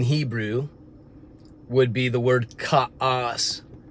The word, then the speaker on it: ka'as: Now, the word provoke in Hebrew would be the word ka'as. It's spelled K-A-A-S, pronounced ka'as.